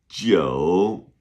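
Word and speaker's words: 九: How do you say nine? Jo. J I U third tone.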